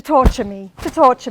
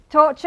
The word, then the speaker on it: torture: Because everyone says tortur or something like that. No? We won't, from now on, remember, torture, furniture, future, okay? Not futur, and all these nice, horrible inventions that we have to listen to.